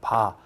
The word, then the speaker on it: var: 근데 발음을 VAR로 하기엔 좀 거시기해요. 그래서 이걸 소문자로 취급해버리고 그냥 한 번에 그냥 우리 구수하게 한국식으로 바 이렇게 읽도록 약속을 한 겁니다. 무효 전력의 단위가 뭐다? 바라고 읽으시면 됩니다.